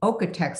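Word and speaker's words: OEKO-TEX: else if it has an okatex certified label which is spelled really weird it's o-k-e-o like okay okay text certified label that's pretty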